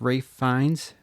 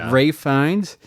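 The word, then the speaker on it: Ralph Fiennes: You were correct in how to pronounce Rafe Fines. You were we said like Ralph, but you you're like actually I think it's Ray Fi or Rafe Fines, but you were correct. Ray Fines.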